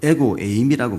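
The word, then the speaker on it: ἐγώ εἰμι: 헬라어로 에고 에임이라고 말합니다.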